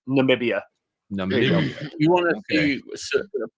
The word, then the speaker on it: Namibia: Namibia. There you go. You're putting the emphasis on the wrong side. Just all right. Namibia.